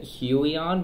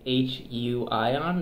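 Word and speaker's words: Huion: see this one is people think it's it's a huey on but it's actually h u i on that's how it's pronounced so it's a Chinese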